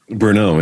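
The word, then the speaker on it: Berneux: And he wanted to set up a meeting with the bishop and my can you pronounce the bishop's name? Bishop Simeon Francois Bernot. Did I get it right? Bernot. Bernot, yeah.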